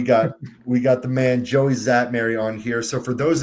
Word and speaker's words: Joey Szatmary: I've got the pronunciation written here so I didn't mess this up. Joey Zatmary. Is that correct? There we go. Yes. All right. We got we got the man Joey Zatmary on here.